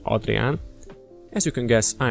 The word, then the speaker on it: Adrián: new channel called orcslayergendev my name is adrian or as we pronounce it here adrian as you can guess